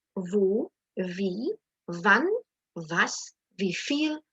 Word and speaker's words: wo: Now, when you're actually pronouncing the question word, make sure your W, that you don't say where, wo, wie, wann, was. Ich kann das kaum sagen. I can't even say it like that. But make sure it's like the English wie, as in very, very. So it's wer, wo, wie,